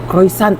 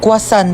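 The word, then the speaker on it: croissant: Croisant daw. Croisant. Ah quasant po.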